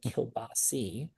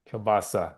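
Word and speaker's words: kielbasa: And let's like let's get to it because my grandfather would always say Kilbasi and you're saying Kbasa.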